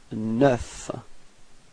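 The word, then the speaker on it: neuf: And last but not least, you get 9. Repeat. 9. Okay, so you pronounce the final F. Okay, and then E plus U gives you this E.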